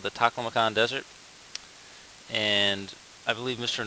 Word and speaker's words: Taklamakan: This is the Taklamakan Desert. So I think it was just a pronunciation error. Tasmanian Devil, Taklamakan Desert. So don't get those two confused.